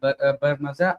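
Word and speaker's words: برمجة: Okay, अना others फी मदरसत रहीम अस्ततियु तसीम अल गवाफिक अस्ततियु अल बरमजा अस्ततियु तत्वीर अल मवाकी। अच्छा, ये जो कोडिंग है इसका बरजा मीन है या बरमजा, इसे मतलब प्रोनाउंस किस तरह करना है?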